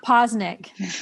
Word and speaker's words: Poznek: it or not charlie we're recording now so poe's neck posnick posnick yes remember what i said about that's her